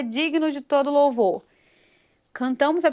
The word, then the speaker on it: digno: Digno. Essa consoante G é muda. Ela é G mudo.